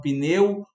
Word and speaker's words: pneu: Por exemplo, a palavra pneu, ela tem 4 letras. Será que eu considero aquele i quando eu falo pneu ou simplesmente considero a palavra tal qual como é, pneu foneticamente?